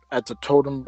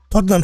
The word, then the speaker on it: Tottenham: But now, this fight is being held at the Totem. How do you say his name? Totem Stadium. Tottenham Stadium.